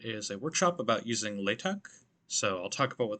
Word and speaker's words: LaTeX: using latex so important to note that it's pronounced latex or latex it's not pronounced latex so keep that in mind and what is